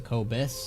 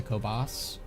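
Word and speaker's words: Kobyss: hallowed lands the cobus so I've been pronouncing them wrong this whole time it's the cobus not the cobos is it wrong that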